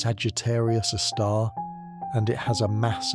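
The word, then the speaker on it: Sagittarius A*: Our galaxy's central black hole is called Sagittarius, a star, pronounced Sagittarius, a star, and it has a mass about 4 million times that of our sun.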